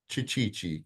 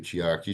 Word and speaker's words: Chiaki: said, "Oh my gosh, Chichichi," because she couldn't pronounce my name, Chiaki. She calls me Chichichi.